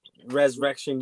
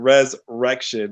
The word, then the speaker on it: Rezrection: You said Rezrection. I'm like, what the fuck? It's actually pronounced the way King said it, like the way it's spelled. That's how it's pronounced.